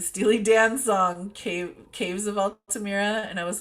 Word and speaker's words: Altamira: Altamira. Yeah, Altamira. yeah. I always pronounce it wrong in my head, but It's okay.